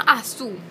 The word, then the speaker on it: Azú: Pero la película se llama Azu, A-Z-U, con acento en la U.